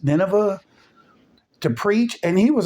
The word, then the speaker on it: Nineveh: it was Nema Nema I think it was it's pronounced Nineveh to preach and he